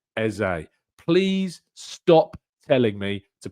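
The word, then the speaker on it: Eze: that I hope that Eza appreciates the fact that I say Eza because that's what he said.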